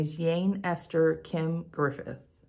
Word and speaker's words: Yein: To be exact, my name is Yein Esther Kim Griffith. Yein is spelled Y-E-I-N, but pronounced like Jane with a Y. Yein is actually a two-syllable name.